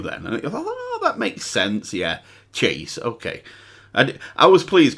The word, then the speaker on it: CHVSE: comments and somebody actually port is pronounced chase and the comments at